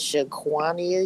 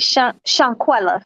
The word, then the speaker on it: Shanquella: How do you say it? Shaquania? Shaquanisha? no? Wait, Shanquella. Shanquella. There you go. Shanquella. Shanquella. Shanquella. Okay. Shanquella Yeah.